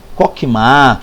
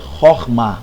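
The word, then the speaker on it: חכמה: Se você disser Shoshima, Kokma, fica à vontade. É você, seus alunos, e tranquilo. Mas caso você queira conhecer a pronúncia é Horma, ok?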